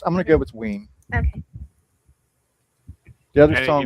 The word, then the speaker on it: Ween: Ween to rhyme with Yeah, I figured Dean.